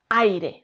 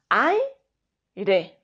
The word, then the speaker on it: aire: Al igual que la A y la I de aire. No decimos A, I, de. Decimos aire, no A, I, re.